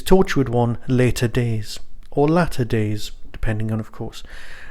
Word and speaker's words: Latter Days: One Later Days, or Latter Days, depending on, of course, how you want to say it. There is an extra T in there, so of course it's Latter Days.